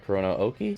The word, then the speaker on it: Kurono Oki: by the way actually is it corono Oki or Oki yep yep that's right corono Oki say hi to the